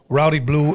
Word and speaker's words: Rowdy Bluee: Please help me welcome, once again, Rowdy Bluee and Joe Seis.